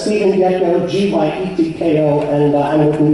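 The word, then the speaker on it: Gyetko: It's Stephen Gecko, G-Y-E-T-K-O, and I'm with New York Against Fracking.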